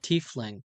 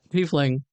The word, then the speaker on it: tiefling: Oh, tiefling. Okay, sorry. Yeah, no, you're right. It is pronounced that way. I also called you're right. Tiefling. Sorry. Uh Tiefling is correct.